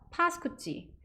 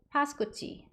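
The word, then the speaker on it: Pascucci: 많은가 봐요 이탈리아는 그래서 카페 파스쿠치 카페요 발음만 조금 조심하시면 됩니다 한국식으로는 카페 파스쿠찌 파스쿠치 렇게 다 쓰여요 발음 두 번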